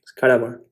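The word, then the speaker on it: cadaver: They don't use the R.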